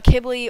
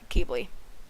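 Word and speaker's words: Qibli: with an American accent because it can be pronounced uh kibbly or kibly it's depending on where you're it's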